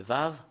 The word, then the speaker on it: ו: bien la lettre V nous allons le voir directement le vave voilà la lettre V voilà la lettre V